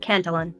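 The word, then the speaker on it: Cantillon: phenomenon known as the Canton effect a French word that is sometimes pronounced in English as cantalin so let's start out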